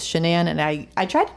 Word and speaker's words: Shanann: her name correctly um if you see it in writing you might glance quick and think it is Shannon but it is shanan and I I tried